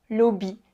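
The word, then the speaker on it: լոբի: Par contre, elle va se prononcer O quand elle est au milieu ou à la fin d'un mot. Par exemple, ce mot-là. J'ai écrit lobby, ça veut dire un haricot.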